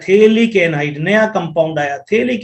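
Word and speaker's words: phthalic: ये फिनोल के दो मॉलिक्यूल, दिस इज थेलिक एनहाइड्राइड, इसका जो नाम है वो थेलिक, P साइलेंट, थेलिक एनहाइड्राइड, थेलिक एनहाइड्राइड।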